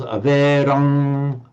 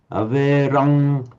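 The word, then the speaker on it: averaṃ: However, the poet here has wanted to make it a long syllable, and therefore it's written as a subdotted M, the anuswara M, and so it becomes averang, asambadhang, averang, asapatang.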